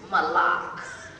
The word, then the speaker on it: Malaak: say that now sister malik malak i always have to say it like this mullocks it's not just a